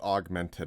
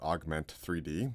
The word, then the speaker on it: Augment3d: ETC's Augmented, it's pronounced Augmented not Augment 3D, but it's got the 3D in the name.